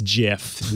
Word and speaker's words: GIF: any of you say in the chat it's jif nothing is going to get me to change